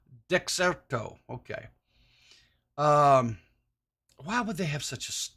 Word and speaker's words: Dexerto: How do you say, is it Dirkstro? Dexerto. Dexerto.